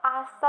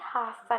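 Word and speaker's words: hasta: Okay, next है हमारा आस्ता मान्याना. आस्ता मान्याना, जैसा कि मैंने बताया था एच साइलेंट होता है. ओके, तो आस्ता बोलेंगे, हास्ता नहीं.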